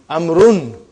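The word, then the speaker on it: عمرو: Why do you have extra vav? It is not read. It is not pronounced. It is only written. Why? Just to differentiate between these two. Actually, it is Amrun.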